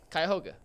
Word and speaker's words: Cuyahoga: But it's Cuyahoga. Yeah, there you go. We'll give you credit for that. Anthony says Cuyahoga, and he's wrong now. It's Cuyahoga.